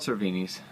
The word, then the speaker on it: Cervini's: So I call it Cervinis, or whatever you want to call it. I think they pronounce it Cervinis. Here in the South we'll call it Cervini's.